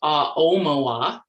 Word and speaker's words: Aomawa: It's pronounced Aomawa. The emphasis is on the O.